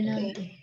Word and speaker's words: Nantes: Suku kata apa dan apa? Nan dan tes. Nah, kalau suku kata pertama berarti kan N-A-N. Ada huruf N, jadi dibaca apa? Non. Ya, suku kata pertama, vous prononcez non. Bukan non, tapi non. Ya, tidak bulat O, tapi agak lebar. Non. Kemudian TES. Ingat, huruf S tidak dilafalkan.